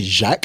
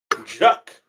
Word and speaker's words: Jacques: thing where it's like, it's actually Jacques. It wouldn't be French. Jacques. Get me? Not Haitian Jack.